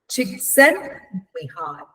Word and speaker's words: Csikszentmihalyi: Mihai Csikszentmihalyi.